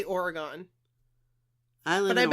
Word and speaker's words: Oregon: So Kristine, tell us how to pronounce Oregon. Your home state, please. I'm going to say Oregon. I live in Oregon.